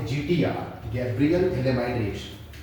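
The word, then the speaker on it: फ़थैलिमाइड (Phthalimide): GTR का full form क्या होता है, गैब्रियल थैलेमाइड रिएक्शन, या पी साइलेंट है, थैलेमाइड रिएक्शन।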